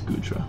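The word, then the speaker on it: Goodra: It's It's Gudra. I know how to I know how it's pronounced.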